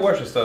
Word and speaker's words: Worcester: die Worcestershire-Soße oder ja, wie wird das so ausgesprochen? Ja, Worcester ist genau richtig.